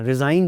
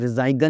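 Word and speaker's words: resign: रिज़ाइन देते हैं जी दफ्तरों से, इदारों से रिज़ाइन लोग देते हैं, रिज़ाइगन नहीं।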